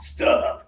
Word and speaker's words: stuff: Stuff. Stuff. And low tongue stiff. Stiff. Stuff. Very good pronunciation.